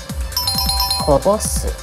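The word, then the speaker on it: 零す: 正解はこぼす。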